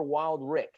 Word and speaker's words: Wildrick: Yeah, we like either, but Wildrick is correct.